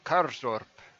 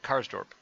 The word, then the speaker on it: Karsdorp: left full back with carl karzdorp that's not here is supposed to pronounce that karsdorp as his counterpart on